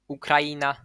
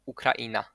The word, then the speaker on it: Ukraina: So these words might be pronounced poeta or poeta, Ukraina or Ukraina. Either is fine.